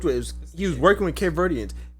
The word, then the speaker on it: Cape Verdeans: He was working with Cape Verdeans. He called it Cape Verts. Nigga, you couldn't even say it right.